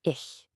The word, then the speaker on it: ich: First one, and the most important one, is ich. Let's try it. Ich. You hear that soft sh sound at the end?